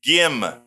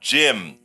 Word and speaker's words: Gym: Her name is Gim, not Jim.